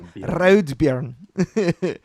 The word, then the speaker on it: Raudbjörn: That's how you say his name, by the way. It's actually Raudbjörn.